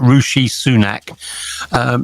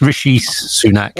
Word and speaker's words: Rishi Sunak: A few weeks ago, just before we got our latest prime minister, it's Rishi Sunak. So for Mr. Biden, it's not Rishi Sunak. It's Rishi Sunak.